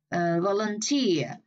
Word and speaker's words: volunteer: Volunteer. Rồi cái gì đó ear đằng sau rồi mình phải là nhấn vào cái âm đó luôn. Volunteer nhấn âm 3, voluntary nhấn âm 1, voluntarily âm 1 luôn.